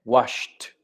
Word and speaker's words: washed: Wash, no vibran las cuerdas vocales, con T, washed.